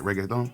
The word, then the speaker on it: reggaeton: we all know that it's reggae thong that's how you say it right reggaeton but we all know